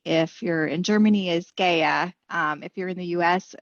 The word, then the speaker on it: GEA: with a fun fact on gaia so the pronunciation of our company if you're in germany is gaia if you're in the u.s some people say gaia some people say gea it just kind of depends on preference so